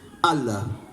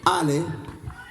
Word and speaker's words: Allah: Pero en Al-Ándalus la A se pronunciaba con imela. La imela es tender a pronunciarla como una E. Así que no digan Allah, digan L. Ala, ole, L, Ale es el nombre flamenco de Dios.